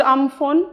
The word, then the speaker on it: Amphan: I am talking about um phone it is pronounced um phone though it is of course spelled we all